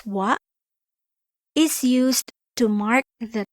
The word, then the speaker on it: は: Particle wa, pronounced as wa, is used to mark the topic of the sentence or that which or who is being talked about.